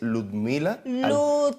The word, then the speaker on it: Ludmila: Es Ludmila. Sin I, por favor.